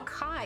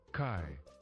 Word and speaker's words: chi: consonant sound represented by this letter oh no Kai it's pronounced Kai k a h you're making me